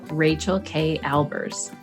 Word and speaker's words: Rachael Kay Albers: Rachael Kay Albers.